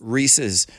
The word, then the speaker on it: Reese's: Reese's. Like Reese Witherspoon's Pieces.